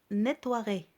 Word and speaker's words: nettoierait: Le E ne se prononce pas. Mais il faut l'écrire.